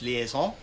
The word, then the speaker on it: liaison: Okay, it's just like our guest services liaison. Yes, and it's actually pronounced liaison.